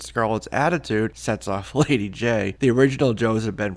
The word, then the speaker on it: Jaye: was introduced as Lady Jaye just a letter J in this issue almost like it was meant to be lady Jo it was later changed to J a ye but phonetically it's the same just two issues later